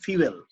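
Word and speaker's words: fuel: Such S power cylinder, ইঞ্জিনের মধ্যে একটা পাওয়ার সিলিন্ডার থাকবে, ফিউয়েল সিস্টেম থাকবে, এটা উচ্চারণ অনেকে ফুয়েল বলে কিন্তু সঠিক উচ্চারণটা হবে ফিউয়েল সিস্টেম, এবং ইঞ্জিন ইলেকট্রনিক্স।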